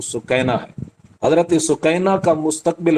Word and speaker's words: سکینہ: لخت جگر حضرت سکینہ، ہمارے ہاں اردو میں سکینہ لفظ پڑھا جاتا ہے، یہ درست تلفظ نہیں ہے، جو عربی تلفظ ہے اور صحیح تلفظ وہ سکینہ ہے۔ حضرت سکینہ کا